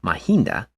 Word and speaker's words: Mahinda: to the Western World moreover Mahendra which in Nepali language is pronounced mahinda was the envoy sent